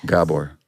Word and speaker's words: Gabor: First of all, can I give you a pronunciation of my name? Gabor. Gabor. Gabor. Yeah. You know who screwed it up for me is the Gabor sisters, Jaja and Eva. Oh. Same name. Anyway, Hungarian is Gabor.